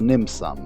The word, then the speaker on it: Nim sum: number is called the Nim suum which is easy to remember because it rhymes with dim suum on your turn you